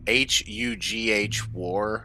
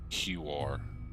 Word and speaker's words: Huar: I feel I like think they're- it's supposed to be pronounced like Hugh War. So let's say it's Hugh War. Huar.